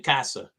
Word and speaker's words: Cossa: Like Sebastian Cossa, prospect for Detroit Red Wings, Sebastian Cossa. So hopefully you like my Casa, su Casa.